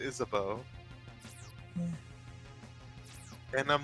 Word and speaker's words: Isabeau: No, is it just me or should her name, like, I see her name and I want to say, like, Isabu, right? Isabu. But it's like they pronounce it Isabeau.